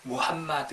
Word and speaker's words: 무함마드: 추천 어 마음엔 트라고 하는데 이 표현은 잘못된 발음 이구요 약한 영어식 빵 바탕 때 올래 이제 언어는 무함마드 일이에요 왐마 드 어 그래서 우리 이제 어